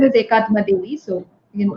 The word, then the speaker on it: Akathma: My name is Akathma. It's like single soul. Akathma. It's pronounced like that. Okay, But okay, unfortunately, it is written as AKA, so a lot of people get confused with it.